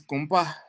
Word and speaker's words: gumpa: Monastery is gumpa, but it often gets mispronounced as what? Gompa. Yeah. I think Tibetans even say gumpa as gumpa.